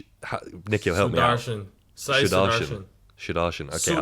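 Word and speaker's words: Sudharsan: I'm going to get this pronunciation very wrong, but Nikhil, help me out. Sudarshan. Sudarshan.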